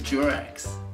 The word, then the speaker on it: Durex: It's Durex. It rhymes with sex for a reason.